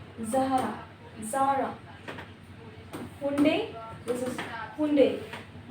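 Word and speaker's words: Hyundai: Adidas AIDS Zaara Zahra Zaara हुंडे this is हुंडे हिंडई भी होता है। रनो दिस इज़ रनो रनो रनो टी साइलेंट रहेगा।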